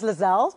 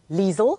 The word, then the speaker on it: Liezel: if our noise goes lizelle and my parents actually thought they were going to change it to lizelle because that's how everyone always pronounced how do you say so Liesel rhymes with diesel oh is it Liesel